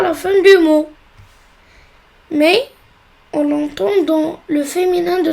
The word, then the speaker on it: maison: Et le seul cas où la lettre S se prononce Z, c'est quand il est entre deux voyelles. C'est le cas de maison.